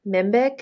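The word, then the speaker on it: Mhenbic: I was about to ask you, the Mimbic, is that how you say it?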